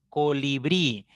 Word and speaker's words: colibrí: Colibrí. Colibrí es una palabra de 3 sílabas, ¿ya? La mayor fuerza está en la primera sílaba, termina en vocal I, por lo tanto debe llevar tilde.